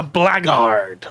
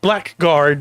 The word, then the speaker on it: Blackguard: So this week we start with the Blackguard, or Blackguard, depending on how you're going to pronounce it.